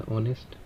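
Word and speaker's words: honest: उसके आगे हमारा एडजेक्टिव लगा हुआ है ऑनेस्ट। तो यहां पर जो हमें एन लगाना है क्योंकि यहां पे एच जो है वो हमारा साइलेंट है। तो ये ओ जो है वो ओ की साउंड प्रोड्यूस कर रहा है।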